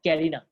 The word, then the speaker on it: carina: उनका नाम है कील और कैरिना, नॉट करीना, बॉलीवुड की हीरोइन नहीं, कैरिना, ठीक है, CARINA, कैरिना, कील और कैरिना।